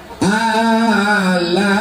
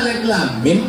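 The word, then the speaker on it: الم: Alama. Padahal alif lam mim bacanya.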